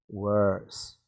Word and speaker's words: worse: It's not ER, it's OR. Worse.